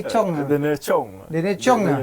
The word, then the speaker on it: Tchong: Daniel Chong. Daniel Chong ya. Sebut T lah. Doi nyebut kira silent T lah.